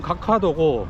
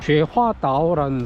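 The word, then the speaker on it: 觉华岛: 아 그리고 한 군데가 더 있는데 이제 우리나라 발음으로론 각화도고 중국 발음으로 죄화 다오라는 섬이 있는데 여기가 과거 섬인데 어떤 보급기지 역할을 했대요.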